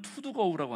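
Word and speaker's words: 頭道溝: 안 선생님이 만주 용정에서 있었던 일인데, 소학교 4학년, 초등학교 4학년 시절에 하루는, 이게 한자로는 머리두자에다가 길도자에다가 그다음에 이제 이 구렁, 그래서 이게 그 발음은 투두거우라고 하는데 두도구라고 하는 그런 읍이 있습니다.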